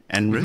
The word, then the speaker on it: En Route: Is that correct pronunciation? En Route?